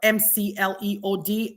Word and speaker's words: McLeod: C's in my name, but it's actually spelled MCLEOD. MCLEOD. It's pronounced McLeod, but it's MCLEOD, and it's the number 4 and then YOU.